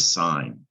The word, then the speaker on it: sign: on what we know that's the word sign you recognize that that g is silent but it you can confuse it with sing so this could be